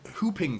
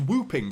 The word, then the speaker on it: whooping: always thought it was whooping cuz it's got a silent w at the front it's it's spelled wh o o p I always thought it was whooping but apparently it's hooping cough and this is tragic